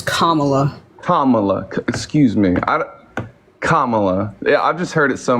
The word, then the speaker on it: Kamala: use it is commala commala excuse me I Kamala I've just heard it so many different ways